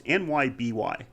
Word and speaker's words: Nyby: to say this wrong is it nyoy or Nei I I don't really don't know how to pronounce that word it's nyby nby the horror guy